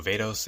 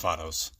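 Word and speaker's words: Vatos: So yeah, it's not pronounced like how I said in the video Vados, it's pronounced Vados.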